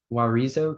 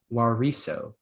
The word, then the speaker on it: huarizo: Warizo comes from American Spanish. Warizo, American Spanish. Are there any alternate pronunciations? Yes, there is one. Warizo, also wariso.